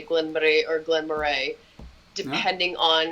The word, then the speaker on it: Glen Moray: don't even worry about the pronunciation, because yes, well, Glen Moray is the proper pronunciation.